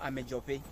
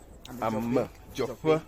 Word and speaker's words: Amedzoƒe: Okay, so the name of the town is called Amedzoƒe. Amedzoƒe. Yes, it's the name of the town. So it's an Ewe pronunciation.